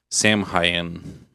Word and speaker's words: Samhain: So Halloween originated in ancient Britain and Ireland as the Celtic festival Samhain. I Yeah. think that's how it's pronounced.